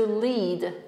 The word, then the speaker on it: lead: A tutaj mamy słówko led, ołów. To nic, że piszemy tak samo, ale wymowa jest kompletnie inna, prawda? Czyli led, led. Czyli ołów albo grafit, który używany jest w właśnie ołówkach.